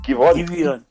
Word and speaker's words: Giveon: Giveon. Giveon. That should be an A, shouldn't it? No, it's you spell it Giveon. You know what's wild about this thing is a Giveon. It's a Giveon.